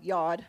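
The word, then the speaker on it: יוד: Yod. Everyone say Yod. It's actually spelled like nod, so you have to say yod.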